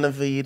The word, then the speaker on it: Naveed: Naveed. That's how they say it in the Middle East.